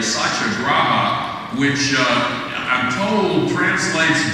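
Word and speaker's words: satyagraha: is something that uh in Sanskrit and our Indian colleagues with bre me when I mispronounce this but it's roughly SAA graa which uh I'm told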